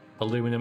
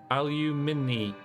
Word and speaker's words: aluminium: Aluminum, aluminum. Well, I can see how it can be both, though. Aluminum, aluminium. I mean, aluminum.